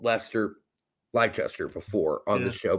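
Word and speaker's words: Leicester: uh like Lester you'd think it's how it's pronounced but it's actually more like molester it's Lester yeah it's Lester yeah so uh that's that's the one English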